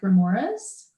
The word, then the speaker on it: remoras: Another question, lamprey look a lot like remoras. Are they related? Am I saying that right? Remoras? Wow. Yes. Yes, Cool. You're saying it right.